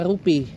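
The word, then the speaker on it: rupee: Mata uang yang berlaku adalah rupiah. Rupiah, tahu rupiah? Bacanya rupiah. Ya, dibaca rupi. Bukan ada yang rupi, ada yang rupi. Tapi yang benar ada rupi.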